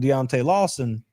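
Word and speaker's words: Deontae Lawson: If they could get Cash Jones matched up on Deontay Lawson or did I say that right?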